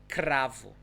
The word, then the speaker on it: cravo: It's cravo, cravo. So it sounds like R again, cravo.